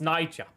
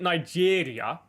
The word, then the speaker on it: Niger: Because that's how you pronounce it. It's Niger. I I used to pronounce it Nigeria, but apparently that's not how you say it.